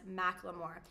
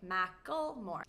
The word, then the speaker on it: Macklemore: So even the singer himself has pronounced his name as Macklemore. But a lot of people say Macklemore.